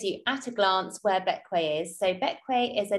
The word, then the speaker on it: Bequia: after how do you pronounce it so it's pronounced back way despite being spelled more like the queer is